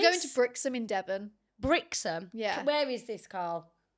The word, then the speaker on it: Brixham: Brixham.